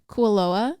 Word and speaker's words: Kualoa: when we went to how do you say it koala ranch kualoa when we went to